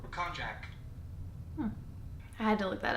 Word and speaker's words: konjac: The pronunciation of this word sounds like Konjac.